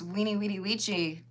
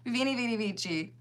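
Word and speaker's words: veni, vidi, vici: Cuz apparently it's weenie weedy weechy, not veenie veedy veechy.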